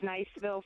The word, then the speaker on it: Niceville: phones uh Mel in Niceville Florida yes is that the right way to pronounce it Mel lovely place yes yes it's Niceville Florida and it's an actual